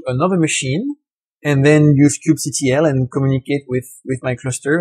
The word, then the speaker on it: kubectl: In French, when there is an abbreviation, we generally spell out all the letters one by one. So it's ingrained in my brain that I say kubectl. But you might hear that pronounced differently in other sources.